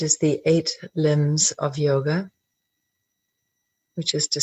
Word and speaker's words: yog: ancient scripture called patanjali yogg darshan darshan means vision or enlightenment the enlightened vision yog or sometimes pronounce yoga means unity so yog darshan is